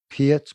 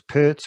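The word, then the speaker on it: Peart: john bonham or neil pierce pertz whatever you old apf yeah i say pier do you say p the americans say pert so i tried to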